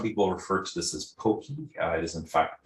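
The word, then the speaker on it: Poky: It's pronounced the same as a particular candy that comes from Asia.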